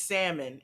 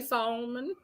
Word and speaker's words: salmon: say this one fred it is salmon it doesn't matter how i say it it does matter because some people say it differently some people say it wrong they're going to put it in the um nmnop listen i say salmon as well but i have heard people say solomon when you say